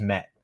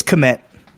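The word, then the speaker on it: Kmet: Is that Komet or is it just Met? I don't know how to pronounce his last name. It's Komet.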